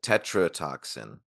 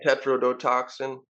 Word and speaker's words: tetrodotoxin: fish that they gave him right I think tetr toxin I believe tet yeah tetrodotoxin yeah I always forget how all the syllables work in there yeah it's it's a